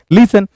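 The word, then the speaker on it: listen: तो आप टी को भी पढ़ देते हैं, लिस्टन बोल देते हैं, but that's not लिस्टन, that's लिसन।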